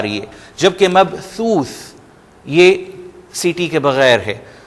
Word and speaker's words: مبثوث: اوپری حصے سے، اور آپ پریشر بالکل بھی نہیں ڈالیں گے زبان پہ۔ مبثوث، یوم یکون الناس کالفراش المبثوث۔ تھوڑا سا ذرا تلفظ میں مشکل ہے کیونکہ ہم ان طرح کے الفاظ کی عادی نہیں ہیں، لیکن اس پہ آپ